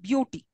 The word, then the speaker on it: beauty: Now, for example, in beauty, where is the stress? On the first, yeah, b sound, beauty. Okay, beau takes the stress, not the b sound, but beau.